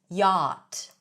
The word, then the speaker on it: yacht: yacht. We don't pronounce the ch here, by the way.